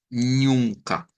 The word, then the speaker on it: nunca: como nunca esa ñ ñ es la nasalización de la u nunca si les dijera miren páselo a como sonaría en español miren tendríamos que decir así ñ así ñuna así Nunca sería como pronunciarlo con el acento portugués eh Esta sí creo